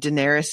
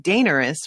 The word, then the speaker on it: Daenerys: of the audiobooks and daenerys is pronounced completely differently in both of them which has led to fights between me and miles because he says it dangerous which is ridiculous and wrong and he needs to